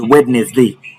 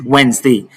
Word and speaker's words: Wednesday: You don't pronounce it as witness day is Wednesday.